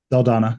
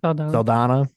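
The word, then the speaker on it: Saldaña: Saldana. Saldana.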